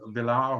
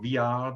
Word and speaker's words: Villard: i'm going to move on now to charlie villar or via depending on how you'd like to pronounce it and uh the villa wines we've